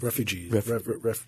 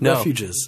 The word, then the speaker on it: refuges: private wildlife bird refuges refuge uh refugees it's not refugee refuges that's it wildlife areas in louisiana